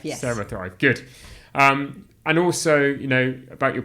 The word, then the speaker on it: CeraThrive: I'm going to talk to you a little bit about your new startup, CeraThrive. That's right. Have I pronounced that right? Yes, CeraThrive, yes. CeraThrive, good.